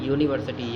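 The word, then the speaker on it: university: ये हालांकि यू से स्टार्ट हो रहा है लेकिन इसका प्रोनाउंसिएशन यूनिवर्सिटी या से स्टार्ट हो रहा है इसलिए ए लगाएंगे।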